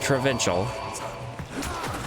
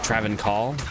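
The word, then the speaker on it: Travincal: It's not Travincial. I think it's like Travancore.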